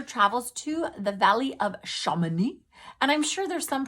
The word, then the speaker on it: Chamonix: Victor travels to the Valley of Chamonix. And I'm sure there's some person that knows French that's listening to this and going, girl, you don't know how to pronounce that. It's Chamonix, Chamonix.